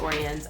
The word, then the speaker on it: Oriens: see me unbox this i believe it's pronounced orient i've actually not seen